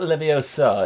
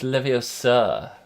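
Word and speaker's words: Leviosa: spell but close enough it's not leio sir it's leio sir and then there's the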